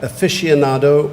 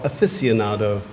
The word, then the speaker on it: aficionado: Your word has 2 pronunciations. You can have either aficionado or aficionado.